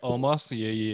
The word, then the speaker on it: Omos: C'est Omos, je pense, comme son nom. Je pense que c'est Homo. Homo? On ne prononce pas le S.